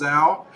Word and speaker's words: Zhao: Michael says, do you not believe me when I tell you that Zhao is pronounced Zhao?